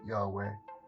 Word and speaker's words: Yahweh: called the yahwah project oh you would pronounce it yahweh it's fitting adam confused